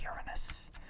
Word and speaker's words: Uranus: yes, it's pronounced Uranus. I know it's funnier the other way, but it is objectively incorrect to say it that way.